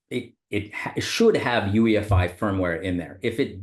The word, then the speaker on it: UEFI: the UEFI forum and that's actually how you pronounce that UEFI there are some people that call it UI which is also acceptable but uh The ufi